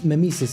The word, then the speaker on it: mimesis: on Mimis so mimesis is is how it's pronounced Mimis as mimesis is